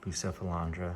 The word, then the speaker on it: Bucephalandra: I added this little green Bucephalandra or Bucephalandra, however you want to pronounce it.